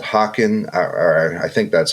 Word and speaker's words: Haken: So we might have to ask him how to say the name, but I think it's Haken. It's Haken. Album's called Virus, and this track is Prosthetic.